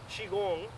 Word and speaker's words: Qigong: Qi g n g pronounced chiong right which is the same thing as Chi Kong I learned it uh